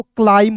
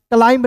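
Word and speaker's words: climb: क्लाइम पढ़ेंगे। ठीक है? क्लाइम। सी एल आई को पढ़ेंगे क्लाइ और एम को पढ़ेंगे म। क्लाइम। क्लाइंब नहीं पढ़ना है दोस्तों यहां। क्यों? क्योंकि बी साइलेंट है।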